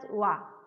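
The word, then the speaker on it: は: You think that this is alphabet hiragana ha. How I pronounce as wa.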